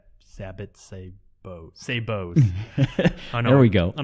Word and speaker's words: sabot: great 12-gauge shooting this of a said sabot Sabo Sabo there we go on a previous podcast